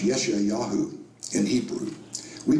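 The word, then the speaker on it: ישעיהו: Prophet this is another Prophet his name is pronounced yesh yahu in Hebrew we pronounce it Isaiah as recorded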